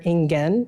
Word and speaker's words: Ingen: that are associated with yinwan or ingen as we say in japanese i should probably stick to that one because i can pronounce that one better i was thinking the